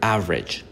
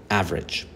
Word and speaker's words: average: This word, average, the E is silent. We don't say average. No. Average.